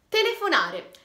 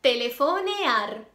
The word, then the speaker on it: telefonear: Il primo è telefonare. Telefonare in spagnolo si dice telefonear, non telefonar.